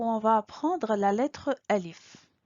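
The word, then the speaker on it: ألف: Bonjour, bienvenue sur cette nouvelle vidéo où on va apprendre la lettre Alif. Le nom de la lettre c'est Alif, mais elle se prononce A.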